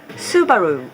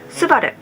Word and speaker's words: Subaru: English speakers pronounce this Subaru I know this is just how they do but to me as a native Japanese speaker it sounds a little Americanized our pronunciation is Subaru subada was named by